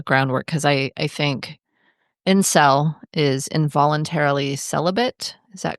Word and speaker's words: incel: that later got shortened down into the much more pronouncable incel without the V because everybody should pause